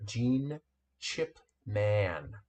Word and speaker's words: Gene Chipman: Dunbar and Sasha Jelton, with our guest designer, Gene Chipman. Woohoo! That's the Let's go, correct, Gene. correct pronunciation.